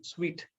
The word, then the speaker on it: suite: Sweet. இங்க பாத்தீங்கன்னா, yes, you know how to spell, how to pronounce the individual letters. no, S-U-I-T-E. ஆனா it, you don't know how to pronounce the word.